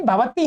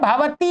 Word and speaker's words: भवती: ये ना इसमें गलत लिख दिया है, ये क्या है, भावती है। भवती तो होता है, आप स्त्री को कहते हैं, वो गलत मेरे से भी उच्चारण होगा, लिखा हुआ है भावती, ऐसा है ये।